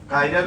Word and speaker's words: chiral: chiral में H silent रहता है, ठीक है, chiral carbon.